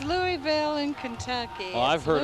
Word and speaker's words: Louisville: this is Lou is Louisville okay thank you Lewisville Louisville it's Louisville in Kentucky well I've heard it called Lou